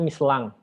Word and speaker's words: Michelin: adalah kota kantor pusatnya Michelin, atau kalau mereka tuh bilangnya Mislang, karena in itu dibacanya eng ya.